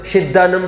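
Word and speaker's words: सिद्धाणं: सिद्धानम बोल रहे, स को शी नहीं बोलना वहां पर, और जहां छोटी मात्रा बड़ी मात्रा उसको समझना।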